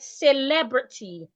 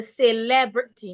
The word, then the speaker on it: celebrity: I can also have it in the word celebrity. Whisk is a celebrity. The diction queen is a celebrity, not celebrity. The first e in that word makes the a sound.